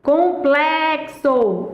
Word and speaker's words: complexo: sílaba tônica é são complexo complexo a sílaba tônica é plé E aí o que